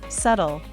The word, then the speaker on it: subtle: the tree every day subtle silent be there's a subtle difference